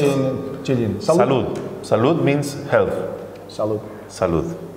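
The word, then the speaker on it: salud: Салуд. Салуд. How do you say in Chilean? Салуд.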